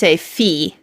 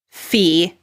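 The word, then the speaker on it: φ: like an F so we'll pronounce it like the F in food so the aspirated fee I.E PA is as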